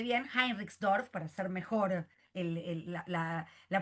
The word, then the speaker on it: Heinrichsdorf: Entonces, nuestro próximo invitado es Henriksdorf, ahí lo pronuncié bien, Heinrichsdorf, para hacer mejor la pronunciación alemana.